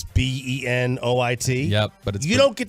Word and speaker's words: Benoit: with Sean McVeigh and the Rams it's not Benoit no it's Benoit it's b-e-n-o-i-t yep but you don't get to choose how